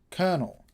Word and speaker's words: Kernal: A powerful feature of all Commodore computers is called kernel, which is spelt Kernal.